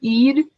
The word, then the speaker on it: Eid: because i don't know how do you say the other holiday iaid um eid uh it's spelled e-i-d okay and that is